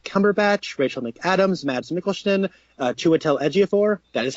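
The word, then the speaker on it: Chiwetel Ejiofor: it stars benedi Cumberbatch Rachel McAdams mads mlen chel edor that is how you pronounce it chel edor as well as Michael stouber uh Tilda Swinton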